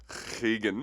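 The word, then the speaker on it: Rigan: But you pronounce it as a... You could just said H. So I went to Higan Machado.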